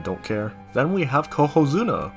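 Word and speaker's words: Cohozuna: care then we have coo Zuna which rhymes with Yokozuna and how does that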